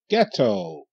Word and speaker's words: ghetto: somebody say G GH ghetto g e get get o toe get o get to okay the H is silent and the t is silent the H makes no sound but the G says